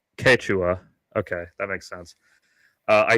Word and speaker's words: Quechua: First of all, my fucking white ass is pronouncing it wrong. Yes. It's Quechua.